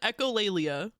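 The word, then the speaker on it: echolalia: Echolleia. That is how you say it.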